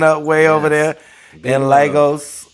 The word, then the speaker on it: Lagos: way over there in Lagos did I pronounce it right over there Legos like Legoland all right well shout